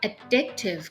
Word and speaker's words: addictive: addictive substances on earth เวลา เขา ออก เสียง คำ ว่า addictive เขา จะ stress ที่ พยาง ที่ 2 นะ คะ ส่วน คำ ว่า